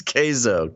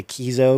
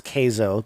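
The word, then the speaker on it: Keizo: spelled k-e-i-z-o uh but people are gonna mispronounce it and say kizo because you know k-e-i keith but it's uh it's kaizo pronounced k is o-k-a-y-z-o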